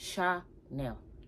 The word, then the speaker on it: Chanel: people keep saying Chanel it's ch not s h it's not Chanel it's Shar nail Chanel I mean I've